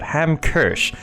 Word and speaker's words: Hamkirsch: at the moment hamers how do you pronounce it ham kersch is just a Barren